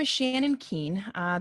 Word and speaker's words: Kuehn: my name is shannon keane uh the last name looks like it's not pronounced keen i don't know what